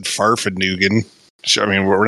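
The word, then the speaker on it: Fahrvergnügen: one of us said farfed nugen I mean we're not bringing that back that I think you mispronounced it but it's not no it's not like Newton like Fig Newtons yeah no that's that's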